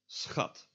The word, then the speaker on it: schat: SCH, when not at the end of a word, or end of a syllable, I should say, is pronounced as just an S and a ch. So sch. So this word, schat, and this means like darling or honey.